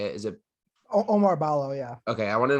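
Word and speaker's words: Oumar Ballo: Is it Omar Ballo?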